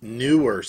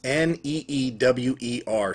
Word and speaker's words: Neewer: The other microphones that I have, and I love the lavalier mics, is these Neewers. It's N-E-E-W-E-R, so nearer. Neewer. I just pronounce it Neewer mics.